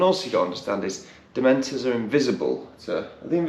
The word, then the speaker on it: Dementor: yeah it was a dementor is it mentored i don't know why he does that because dementor is not a hard word to hear no just say it properly right it's not dementoid he's throwing in these